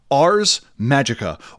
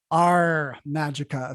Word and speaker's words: Ars Magica: on before and today we will be discussing ours magicka or probably are majeka because one thing that